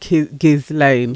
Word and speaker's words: Ghislaine: Is it a silent S in her name?